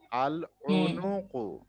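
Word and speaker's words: العنق: আল আই আল আইন, আই আইন পেশ উ, আইন পেশ উ, আল উ। আল নুন পেশ নু, কাপ পেশ কু, তিনটাই পেশ। আল উনুকু, আল উনুকু।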